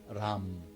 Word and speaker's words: Ram: R-A-M, Ram in Sanskrit. It's pronounced Ram.